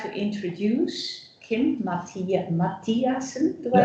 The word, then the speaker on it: Mathiasen: But now I would like to introduce Kim Mathiasen. Do I say it right? Yeah. Kim Mathiasen.